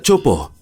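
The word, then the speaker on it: Teahupoʻo: Se pronuncia Chopo y significa cráneos rotos en tahitiano.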